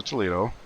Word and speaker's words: Toledo: And I do know that's not the way to pronounce it, but I actually live in Toledo my whole life in Ohio. So I pronounce it the English way, even though I'm fully aware of how to pronounce it the Spanish way.